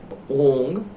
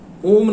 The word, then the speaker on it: ओम: देखिए, जब ओम का भी उच्चारण करते हैं, यहां पे ओंग उच्चारण करना है, ओम नहीं कीजिएगा।